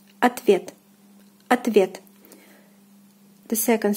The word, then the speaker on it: ответ: Ответ, ответ, ответ. The second syllable, the vowel ye, is under stress, so the first O, which is unstressed, is pronounced as A. Ответ, ответ, ответ.